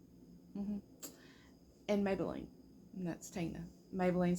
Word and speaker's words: Maybelline: Maybelline and that's Tina Maybelline spelled without the Y m-a-b-e-l-l-i-n-e soars like Mabel Lane okay because that's after